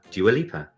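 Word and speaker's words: Dua Lipa: um if you are doing this because joala please write in and tell us how to pronounce it do you a leaper do you a leaper that's right uh well it was a small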